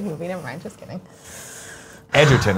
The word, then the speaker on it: Egerton: Edgerton is how it's pronounced, says Spaceman 01.